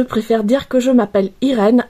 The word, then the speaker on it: Irene: Mon vrai prénom ce n'est pas Irène. J'ai francisé mon prénom parce que quand je suis arrivée en France, je voulais pas qu'il soit prononcé mal. Mais mon vrai nom c'est Irene parce que je suis d'origine italienne. Je suis arrivée en France